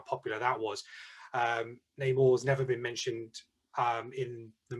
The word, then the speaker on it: Namor: Is it Namor? Yeah, Namor. Pronounce it.